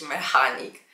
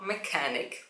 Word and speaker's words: mechanic: przykład Mechanic No wiem Wygląda jak mechanik ale nigdy nie możesz powiedzieć mechanik tylko Mechanic Więc analogicznie podobnie boleści